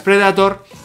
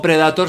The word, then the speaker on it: Predator: Ya sabéis que las Predator... o Predator, se puede pronunciar, depende de donde estéis, de las dos maneras, se caracterizan por el control, por la precisión, por la potencia.